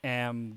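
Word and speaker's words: へ: Which is I am going to what is it, Mac? Or I will go to Mac. So in this case here, this is not pronounced hey, it's pronounced a.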